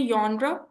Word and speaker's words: genre: यॉनरा class, इसको pronounce करते हैं यॉनरा, या का साउंड आप प्रोनाउंस करते हैं बेसिकली.